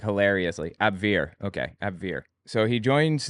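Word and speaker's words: Abwehr: part of the abir I don't know how it's pronounced I've been calling it abir AB we HR it was the German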